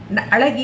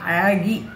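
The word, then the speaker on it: அழகி: ಅಳಗಿ ಅಂತ ಹೇಳಬಾರ್ದನ್ನ ಅಳಗಿ ಅಂತ. ಝೆಡ್ ಉಚ್ಚಾರ ಸೇರುತ್ತೆ ಅಲ್ಲಿ, ಝೆಡ್ಡು ಮತ್ತು ಎಳ್ಳ ಎರಡು.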